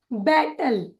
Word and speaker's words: battle: इसका उच्चारण होगा बैटल।